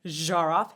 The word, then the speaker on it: Zharoff: underneath, it would be a zh kind of sound, like je, right, in French. And or Zharoff. Hey-o, that is how you say my last name, guys.